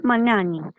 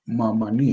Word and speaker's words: Mamani: Entonces lo pronunciamos mal en el programa, porque yo saqué esto. Vilma Rosa Mamani. Entonces es mamán. Mamani.